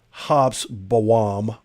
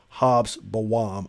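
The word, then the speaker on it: Hobsbawm: based on historian eric hops bowam h-o-b-s hobbs bawam i believe it is the correct pronunciation at the time of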